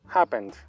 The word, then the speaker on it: happened: What happens What happens Recuerden que la última e no se pronuncia es un verbo regular termina en N al hacer el pasado no pronunciamos la e final hapence suena una d al final happens What happens Qué